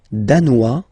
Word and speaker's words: danois: Le Danemark, danois, danoise. Zzz, okay, insist on that. Danois, don't pronounce the final S. Danoise, here you pronounce it.